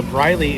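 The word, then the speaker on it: Bryleigh: So Bryley it's Oh I got to spell it for you.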